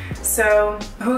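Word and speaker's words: hygge: book of cool got it's pronounced so whoo that is a Danish term it says that it's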